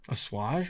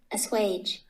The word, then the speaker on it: assuage: how to pronounce it let's hear it a swage sage there we go i've only read it